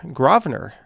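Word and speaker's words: Grosvenor: at with that but yeah gravener there we go not trolling it's just the correct way to say it okay how do i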